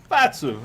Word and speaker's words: Campazzo: I'm only going to go with Campazzo because Fasu. It's Fasu? Fatsu. All right, I like it. Fasu. I thought it was a hard C.